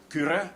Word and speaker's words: Kyrö: I've just finished a novel called The Beggar and the Hare by a Finnish novelist called Tuomas Kyrö, which is spelled Kyro, Kyrö, and absolutely wonderful story about, it's a very